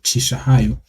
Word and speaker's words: Chishahayo: We say chi, like my name, Chishahayo.